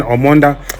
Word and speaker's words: Omoda: the name orod it's it's not an easy name for us to pronounce because I've heard people calling it so many things but it's actually an omond which means oxygen modern